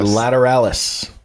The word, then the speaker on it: Lateralis: All right, Danny Carey said lateralis. Lateralis. That's pretty cool.